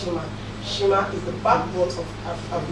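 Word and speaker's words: Xima: Shima is actually spelled X-I-M-A, pronounced Shima.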